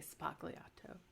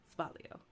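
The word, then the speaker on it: sbagliato: with Prosecco in it you don't say spokliato it's with a z and the g Asylum it's said like spalio she wasn't Italian no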